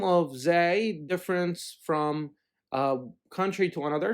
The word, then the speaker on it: zay: fine now the normal the name of the letter zay in arabic is sometimes pronounced zay and zayn as we discussed so in both situations it is the exact same letter ra and i have